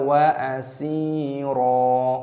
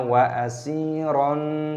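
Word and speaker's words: أَسِيرًا: Saat berhenti, dibaca wa asira, mad iwad. Jangan dibaca wa asiran.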